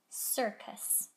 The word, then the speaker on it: circus: is the word circus my first c is soft notice the i the next c is hard u is not in my picture sir cuss circus here's our last word